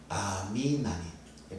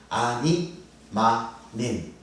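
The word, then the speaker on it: אני מאמין: 유대인들 보면은 꼭 유월절에 아미나미이라는 노래를 부릅니다 유월절에 아미나미이 발음이 벌었습니다 아니 나민 아니마민 이라는 노래를 부릅니다 이게 히브리어로 이런 뜻이에요 나는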